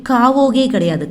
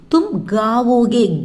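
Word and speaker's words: गाओगे: தும் காவோகே, காவோகே, காவோகே கிடையாது, காவோகே அப்படின்னா சாப்பிடு அப்படின்னு அர்த்தம். தும் காவோகே, கா கா ப்ரொனவுன்சியேஷன்.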